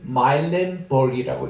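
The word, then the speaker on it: Muilenburg: 제임스 마일렌버그이라고 읽어요.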